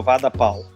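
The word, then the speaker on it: vada pav: se chama vada pau e escreve vada pve Só que pronuncia como vada pau o o sabor é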